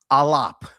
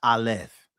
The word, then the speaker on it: aleph: So, it should be pronounced alop with a P. Alop, not aleph.